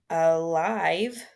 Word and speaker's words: alive: We have that sounds like a schwa, alive.